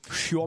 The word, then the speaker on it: chiourme: Mais c'est Comment ça, ça les- s'écrit, churme?